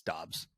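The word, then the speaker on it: Doubs: they asked him specifically how do you pronounce it okay and he said it's Dobbs Dobbs okay Romeo Dobbs Got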